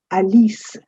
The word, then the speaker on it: Alice: I know we say Alice in English, but this word in French is pronounced as Alise.